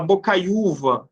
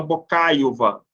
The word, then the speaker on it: Bocaiuva: orar ou nem feiura se eu falar Bocaiuva você não fala Bocaiúva e nem bocaíuva né paroxítona a penúltima sílaba